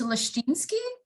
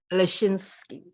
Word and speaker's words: Leszczynski: No, I like to definitely always pronounce everyone's name, so please say it for me. Okay, it's Leszczynski. Leszczynski.